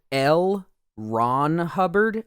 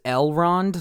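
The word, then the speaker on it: L. Ron Hubbard: also I gotta say his name is l ron Hubbard I thought it was Elrond like from Lord of the Rings so every time in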